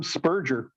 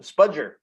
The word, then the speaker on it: spudger: you guys that I learned the term spurger a spudger yes oh and I literally mispronounced that too a spudger for spudging